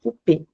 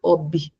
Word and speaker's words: ob: Então, eu não leio ob não, eu leio op. OP. Aqui eu coloquei um ponto só pra gente, é como se fosse uma, como se eu tivesse separando sílabas, tá? Então, o som de B mudo, ele tem um som de P.